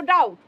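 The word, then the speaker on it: doubt: sorry ডাউট বলবো না আমরা টি এর আগে বি রয়েছে আমরা বলবো ডাউট আমি মাঝে মাঝে ভাবি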